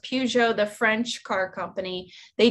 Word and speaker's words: Peugeot: Yeah, because there were companies like Peugeot, I think it's called, pronounced Peugeot, the French car company.